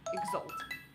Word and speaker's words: exalt: The next word is exalt. Sounds like salt.